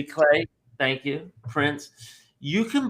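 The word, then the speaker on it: giclée: gay prints geese how do you say that geek clay prints jlay jlay glay thank you prints you can buy if you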